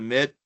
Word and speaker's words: Mitt: So just as I have to say uh you know my name's pronounced a mit you know Mitt with like a ball a shoe a glove a mitt.